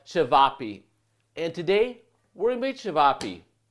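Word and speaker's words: ćevapi: you're going to find some version of chavapi or it might be pronounced a little bit differently depending on which country you're coming from it'll be seasoned a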